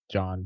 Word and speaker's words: Jean: character oh you mean oh they pronounced it john the dub bob now is correct i thought he was